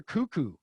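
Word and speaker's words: Koekkoek: name to this day my favorite nhl name slater cuckoo which is fantastic yeah great name which is spelled like coke coke with caves but yeah for the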